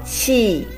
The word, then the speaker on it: 气: We have learned the pronunciation of qi combined with I, fourth tone. Qi.